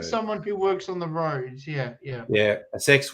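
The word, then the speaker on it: Rhoads: get it who is it Steve vanzan Randy roads Randy roads I have actually heard yeah roads is spelled r h o a DS as opposed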